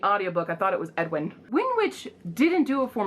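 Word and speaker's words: Aeduan: make up the names because edwin is spelled like a e d u e or something like that where the hell is edwin he has like full-on there it is oh a-e-d-u-a-n that's edwin but when she says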